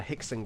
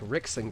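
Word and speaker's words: Rickson: but no it's vanderlay like the W is pronounced as a v so vandelay silver or then you have someone like uh hickon Gracie who whose name is not spouted with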